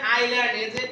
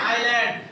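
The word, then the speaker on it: island: উচ্চারণ হবে আইল্যান্ড। এস এর উচ্চারণ হবে না। আইল্যান্ড।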